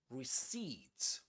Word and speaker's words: receipt: The accented syllable is the last one.